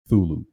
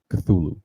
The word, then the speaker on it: Cthulhu: as to pronounce it cthulhu because uh it's actually a sound made by like this being this monster and oh really that's